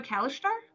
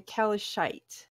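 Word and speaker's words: Kalashtar: yeah Kelly shite sorry so it's not a Callister no it is a Kelly shite rude how do you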